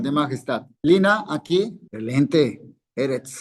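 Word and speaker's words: אֶרֶץ: Eretz, segolado. Entonces acento en la primera. Eretz, tierra.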